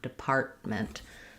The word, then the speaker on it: department: middle, we tend to just use an unreleased T there. Depart, I go up to make the T, depart, and then I just release into the M, department. So it sounds like I'll put that T in parentheses because I don't let it out, and then ment. So the department, the disability department.